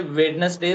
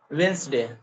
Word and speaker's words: Wednesday: day when we say wedness day so it is not wedness it is Wednesday Wednesday yeah Wednesday right